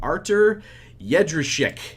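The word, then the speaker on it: Artur Jędrzejczyk: Let's go with somebody from not really a Polish giant, but a Polish team, Artur Jedrzejczyk. And yes, that is exactly how you pronounce it.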